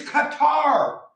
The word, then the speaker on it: Qatar: right j pan cutter they say cutter it's qatar japan is japan not japan they can't even pronounce